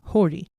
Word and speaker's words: hori: The next letter is hori. Hori is pronounced like an H, as in the word halum.